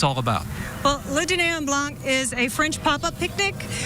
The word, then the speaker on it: Le Dîner en Blanc: I give you the 1-minute warning until we have the date release for La Dîner en Blanc. That's the way I pronounce it. Jessica, how do you pronounce it? Le Dîner en Blanc.